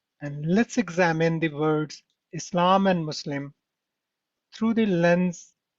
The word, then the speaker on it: Islam: Take these words for example insan in Islam. They all follow a distinct sound pattern starting with a short e sound and stretching into a long a sound in the middle.